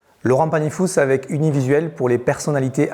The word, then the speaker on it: Panifous: Alors, on dit Panifous ou Panifou? Panifous. Oui, non, que ce soit Comme bien clair. beaucoup de lieux en Ariège, de villages ou de noms, on aime bien prononcer la dernière lettre.